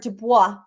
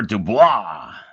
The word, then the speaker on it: Dubois: It's really it's not even supposed to be pronounced with a D. It's Dubois. That's how you really pronounce it.